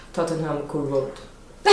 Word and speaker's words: Tottenham: And that's why it's so hard, because we learned that the H sounds like h, but it doesn't in this word, apparently. So it's like Tottenham.